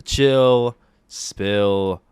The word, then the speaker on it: Spill: All right here on this, the 58th edition of the Chill Spill Podcast. The S is silent, by the way.